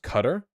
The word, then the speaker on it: Qatar: in um it's pronounced cutter it's pronounced cutter that's stupid I'm calling it Qatar I don't even care